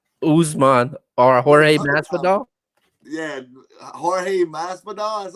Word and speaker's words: Jorge Masvidal: Yeah, Jorge Masvidal.